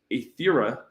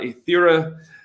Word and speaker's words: Aetherra: So I'm super stoked for I believe it's pronounced Aetherra, and all the things that the Alchemy team